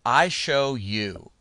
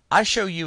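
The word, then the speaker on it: iShowU: that I prefer to use is one called I show you and it's spelled lower case I big S little H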